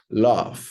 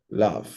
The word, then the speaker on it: love: ser muda Ok ejemplo Love Love no se pronuncia la e no se dice Love